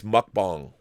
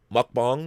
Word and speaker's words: mukbang: it mukbang uh I was told that it's mukbang mukbang is how you pronounce it Elizabeth looked into what mukbang means